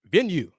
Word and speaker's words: Venue: Venue. Pronounced like you say venue.